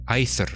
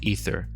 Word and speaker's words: aether: Maybe nowadays most people pronounce it like E, but why not teach them that in Latin it was a diphthong? Ah, and then E. Aether, not ether. Ion, not eon. Two different vowels.